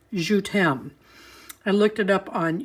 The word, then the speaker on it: Je t'aime: I think it's pronounced Je t'aime.